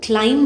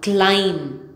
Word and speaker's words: climb: of them can danaka silent B after M incurring it will be